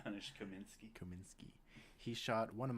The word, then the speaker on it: Janusz Kaminski: Janusz Kaminski.